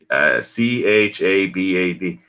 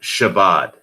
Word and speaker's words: Chabad: put that in there so it's Chabad it's not Shabbat there's no such thing